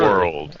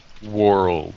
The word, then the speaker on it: world: World. Okay. Oh yes. Yeah. This is a word that they're having trouble. Can you pronounce that word really slowly? That word. World.